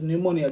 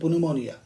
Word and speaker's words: pneumonia: You must pronounce it as pneumonia. Don't pronounce it pneumonia. P is silent.